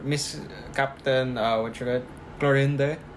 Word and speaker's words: Clorinde: Clorinde. Clorinde. Is that her name? Yeah, her apparently her name is Clorinde or I don't know how to pronounce it.